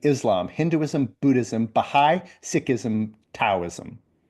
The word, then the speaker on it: Taoism: Uh Christianity, Islam, Hinduism, Buddhism, Bahigh, Sikhism, Taoism uh or Dowoism depending on how you like to pronounce that. I like Tao because it has a T but I think it's more pronounced Dowism.